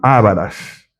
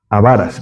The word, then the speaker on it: avaras: Es decir, personas eh ávaras, avaras, perdón, no se dice ávaras, sino avaras.